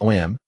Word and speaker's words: Om: Pronounced OM, it symbolizes the root of all things.